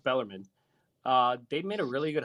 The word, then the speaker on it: Bellarmine: Everybody calls it Bellarmine. It's pronounced Bellarmine.